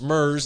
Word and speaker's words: murres: in the on the Pacific Ocean Side Ms pronounced Ms it's spelled m uur r s it's a